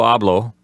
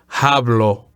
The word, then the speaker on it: hablo: The letter H is silent. So don't say hablo or habla. Say hablo or habla.